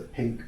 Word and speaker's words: PYNQ: And if you look at boards, actually one board I didn't mention is the Pink board. The Pink board? Spelled, but not pink. It's spelled PYNQ.